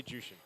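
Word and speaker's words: Zhuxin: So Super Friends, this how do you say it again? Jushin? Zusin? I say Jushin. Okay, I'll just say Jushin also.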